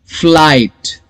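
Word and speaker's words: flight: फ्लाइट. Okay, यहां पर F का साउंड है, FL, फ्लाइट. IGH लिखना है लेकिन प्रोनाउंसिएशन सिर्फ I का करना है. फ्लाइट.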